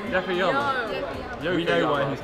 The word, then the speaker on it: Yokoyama: Yakoyama. Yoko Yama. We know why he's not. Like, the less of your names he pronounces, the better.